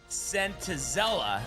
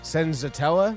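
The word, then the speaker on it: Senzatela: Oh gosh, there's no way you're going to tell me that Antonio sentella. And that's not how you say it, but Sent Senzatella Zen Senzatella uh is going to come into Oracle Park, out pitch Robbie Ray.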